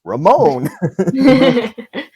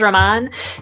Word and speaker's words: Raman: greatest devil of all Ramon he prefers Raman Raman Raman guys I just finally learned how to pronounce it correctly let's not mix me up again it's Raman all right to areia to